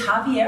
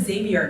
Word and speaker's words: Javier: Oh, it's Javier. I always pronounce it Xavier in my head.